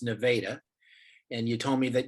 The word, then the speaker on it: Nevada: called nevada which is spelled like nevada but pronounced nevada and you told me that you're just about